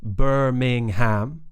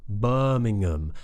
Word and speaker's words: Birmingham: to pronounce for sure so it's not Birmingham which you might hear an American say Birmingham but we say buring birmingam Birmingham let that sound at the end of Ming join to um Birmingham Birmingham Birmingham similar with Nottingham Nottingham